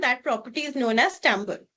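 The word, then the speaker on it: timbre: And this phenomena is known as tambber. Right? So it is not pronounced as timber, it is pronounced as tambber.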